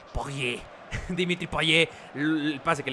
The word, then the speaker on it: Payet: Bueno, Payet no me gusta cómo suena. Probablemente sí se diga realmente, pero la pronunciación casi deportes en francés es Poyet.